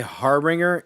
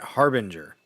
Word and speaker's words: harbinger: Why did he just say harbringer? He meant harbinger.